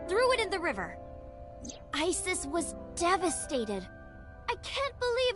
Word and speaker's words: Isis: Horus's mom is named Isis, but in ancient Egyptian, it's pronounced closer to Isa or as h.